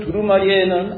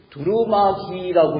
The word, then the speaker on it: 두루마리: 어떤 사람들은 두루마기라고 읽는 분이 있어요. 두루마기. 두루마기가 뭐예요? 한복에서 겉에 입는 게 두루마기예요. 옷이에요. 옷. 두루마기가 아니라 두루마리입니다.